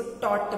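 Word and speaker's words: taught: देखिए अब टीच का हो गया टॉट और जैसा स्पेलिंग आप देख रहे हैं टी ए यू जी एच टी. तो मैं बार बार बोल रही हूँ इसको टाउगट नहीं बोलेंगे, इसको टॉट बोलेंगे, टी ए यू जी एच टी टॉट. Pronunciation इसका टी ओ टी टॉट होगा.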